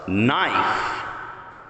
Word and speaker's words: knife: Knife. So what do? We cross out the silent K.